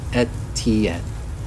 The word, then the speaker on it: Etienne: Yeah, so it's pronounced Etienne, which, I mean, literally how it looks, but I don't know.